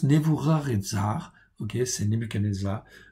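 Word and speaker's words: נבוכדנאצר: cas nevoux rares edzard on prononce nevoux rares et zares ok c'est nîmes et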